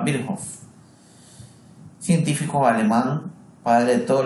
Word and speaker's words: Virchow: Y Rudolf Virchow, aunque en la facultad nos enseñaban siempre que se pronunciaba Virchow, científico alemán, padre de todos los seres vivos, están formados por células, son los enunciados.